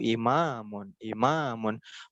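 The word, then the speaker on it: إمامٌ: Imamun, bukan lebay ya. Bukan lebay, tapi memang gitu cara ngomongnya imamun gitu.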